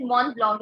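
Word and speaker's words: Mont Blanc: don't worry yeah but its name itself is mon blog if you literally translate it it means the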